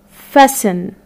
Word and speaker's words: fasten: fast plus e-n so here we are going to have letter t as a silent letter so the word is going to be pronounced as fessen fessen like when you close